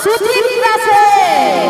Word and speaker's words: সুচিত্রা সেন: আবার ভালো করে তো উচ্চারণ করে বলো না। কি বলতে হবে? উত্তম কুমার সুচিত্রা সেন। ও আচ্ছা, উ আর সু।